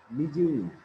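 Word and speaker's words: πνίγειν: যদিও শব্দটি প্রথমে পি অক্ষর দিয়ে শুরু, কিন্তু উচ্চারণ হবে এম থেকে, নিজেই।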